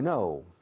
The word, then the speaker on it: know: To know es saber o conocer. Yo sé dónde vive Sarkozy. I know. K-N-O-W. 4 letras. Sin embargo, la pronunciación es igual que la negativa no.